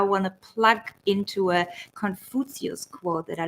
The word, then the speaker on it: Confucius: We say Confucius. This is the German pronunciation. I love it. Confucius. Sounds like, take your foot over there. Confucius.